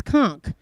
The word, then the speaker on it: conch: it should be yeah it's close conch it's conch however spongebob squarepants kept pronouncing his conch and I felt like it